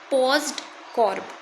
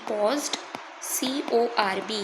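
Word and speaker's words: POSDCORB: That is पॉज्ड कॉर्ब। क्या बोला मैंने? पी ओ एस डी पॉज्ड सी ओ आर बी। यहां पे ओ जो है ये साइलेंट है।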